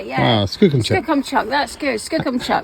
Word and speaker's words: Skookumchuck: Skookum chuck. Skookum chuck. See, he knows. He knows. That's how we say it. That's how you say it. Yeah. Wow. Skookum chuck.